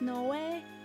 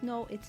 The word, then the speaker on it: Noi: In Japanese, his name is Noi. It's not pronounced no way. It's not pronounced no. It's Noi, like Chloe or Zoe.